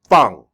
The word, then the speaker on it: 放: Fang. This is the fourth tone. Why do I say it? I say it like I'm angry.